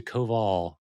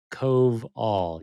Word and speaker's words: Coval: on air um so I'll try to switch to Cove all Cove all yes that's what you can do I think I honestly